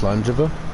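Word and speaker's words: Slàinte mhath: And then slange slangejiva that's a slate maybas that you see at the end it's pronounced slangejiva and well that one it says itself cheers.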